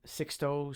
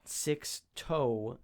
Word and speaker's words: Sixto: Sixto Sanchez, not Six-Toe Sanchez.